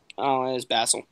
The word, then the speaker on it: Basil: what did I say basil Bassel yeah the American pronunciation yeah we're thinking of